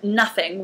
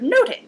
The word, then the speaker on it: nothing: now in Elizabethan English the word nothing would have been pronounced the same as the word noting which meant you know